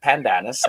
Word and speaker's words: pandanus: And I've heard of the pandanus, which kind of is spelled like panda anus, but it's pandanus, and it's not the same at all.